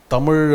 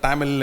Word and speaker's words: Tamil: TH is because of the French are the first to write it with a T and they pronounce it as just ta. The English and the Portuguese are calling Tamil as Malabar and Telugu as Gentu.